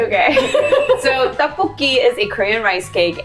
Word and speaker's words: tteokbokki: I did say it wrong it's okay so tafuki is a Korean rice cake and it's usually